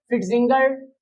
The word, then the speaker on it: Pfitzinger: प फिट जिंगर synthesis इसको नहीं बोलना आपने य पर साइलेंट है तो फिंगर सिंथेसिस ऑफ क्नो चलिए